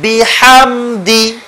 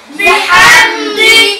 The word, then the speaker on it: بحمد: বড় হা فسبح فسبح بحمد بحمد এখানেও বড় হা আছে بحمد بحمد ربك ربك